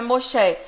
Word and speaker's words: Moshe: certeza que Moisés, né, que no hebraico é Moshe, seria o Messias, que é Machia. A pronúncia, inclusive, dos dois nomes é parecido.